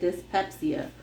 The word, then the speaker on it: dyspepsia: Dyspepsia. Pretty good. Dyspepsia. So whenever you see DYS, it's dis.